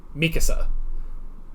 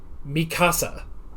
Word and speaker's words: Mikasa: But there's a character whose name is Mikasa, and that's how they say it in the English dub. And I thought, okay, so that sounds about right, how they would probably say it. And I've actually watched some of the Japanese, and they do say it like that. But for some reason, every English fan of this show says Mikasa.